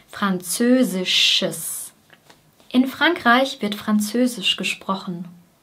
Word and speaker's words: französisches: Hier haben wir am Ende noch ein ES, ein Schwarlaut und ein S. Es. Französisches. Sches. Bei dem Sch gehen die Lippen vor und bei dem S sind sie breit. Sch, sch, Schiss, Schiss, Französisches.